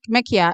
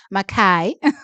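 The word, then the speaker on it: Mikiah: Sorry, not Makia. I was told how to pronounce her name. Makai Briscoe.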